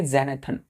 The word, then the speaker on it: xanthan: ज़ैनाथन। एक्स यहाँ पे जे पढ़ा जाता है, जॉ पढ़ा जाता है बच्चों, ठीक है? तो ज़ैनाथन पढ़ेंगे।